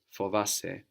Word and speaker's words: φοβάσαι: Fovasse.